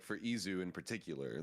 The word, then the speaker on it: Izu: well, but like for Izu in particular, like the reason that he says it's Iju is because there's just no Z sound in Korean.